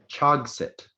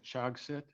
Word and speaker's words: chogset: Speller 15, your word is Chogsit. Say again, please. Chogsit. You said Chogsit.